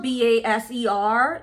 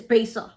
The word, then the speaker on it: baser: big up face off it's spelled b-a-s-e-r but you know in the Bahamas the letter r are it don't really exist it exists but it don't exist so it's not baser it's basal but we spell it with r at the end confusing I know I